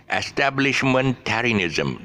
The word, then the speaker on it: establishmentarianism: Okay, establishmentarianism. That's where the shift is at the back.